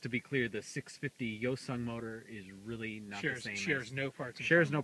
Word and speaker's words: Hyosung: what and i'd say yo son this is how you say it yo son yo son not Hyosung or hiyo silver the H is silent the H is apparently